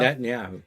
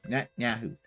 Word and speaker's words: Netanyahu: Netanyahu. Yeah, I can never say his name. Netanyahu. Yeah, think of internet and Yahoo. Okay. So, internet yahoo.